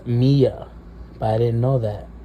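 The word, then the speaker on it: Milla: Turns out her name is pronounced Mia, but I didn't know that, so I pronounced Miller the whole time.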